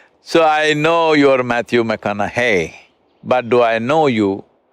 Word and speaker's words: McConaughey: the second name mcconnell hey rhymes with what would madonna say so so i know you're matthew mcconaughey but do i know